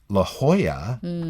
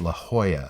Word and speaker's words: La Jolla: in Spanish so there's la jolla california it's but it's it looks like La Jolla in La j 0 lla but it's la jolla that's how it's pronounced